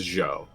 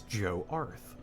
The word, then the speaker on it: Jarth: I I think I I've been pronouncing or I pronounced it the first time, Joe. But it's Joe. It's Joe Arth.